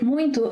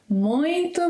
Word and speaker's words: muito: Focus on the ‘in’ sound. Let's take 'muito' and break it into parts. A bit faster. It sounds beautiful! Muito bonito! Muito!